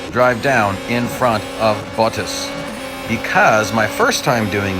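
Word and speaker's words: Bottas: just said i said buttus most people if you watch a lot of f1 racing you're used to hearing the announcer say buttas that's not actually how his name is pronounced and i've actually just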